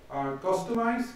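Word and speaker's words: Kustomize: Customize, that's how you pronounce customize with a K.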